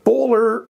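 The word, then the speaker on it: Böhler: time I'm going to say it correctly the bowler k110 on this is you know basically an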